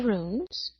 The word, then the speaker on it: runes: First it was the runes, and first you had to teach me how to say it properly, because I was like, ruins? No, not ruins.